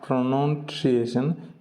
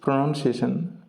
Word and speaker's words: pronunciation: practice our pronunciation pronunciation it's not pronation it's pronunciation pronoun pronunciation let's practice our